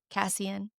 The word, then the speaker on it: Cassian: Cassian. Cassian.